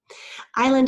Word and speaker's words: island: Island is a little tricky, and you do need to know it, wink, wink, nod, nod, because although I is a long I, the S is silent.